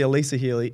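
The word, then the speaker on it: Alyssa Healy: in the past yeah her name is actually Elisa Healey even though they spell it Alyssa I'm pretty sure that's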